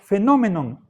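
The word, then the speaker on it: phaenomenon: en phainomenon fomen la este diptongo pasa al latín por phenomenon pero se pronuncia fenomenon y por eso viene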